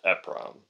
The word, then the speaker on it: EPROM: Although, I think it should still be pronounced EPROM.